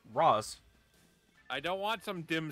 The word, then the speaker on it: Ra's al Ghul: Apparently, the correct pronunciation is Ra's. Raish was just something that they decided upon for the animated series, but apparently, in its correct language, it's Ra's.